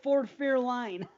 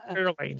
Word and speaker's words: Fairlane: Both times he called it Ford Fairline. Fairlane?